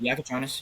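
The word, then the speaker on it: Jakučionis: Yaka Yakonis. Yep. Yakonis and Will Riley.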